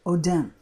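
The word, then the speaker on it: אֹדֶם: was a long long time ago but it's pronounced Odem I'll show you how it's used here in Exodus 28 17.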